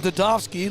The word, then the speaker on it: Zadovsky: Austin Dadovsky, looks like it says Zadovsky, but the Z is silent.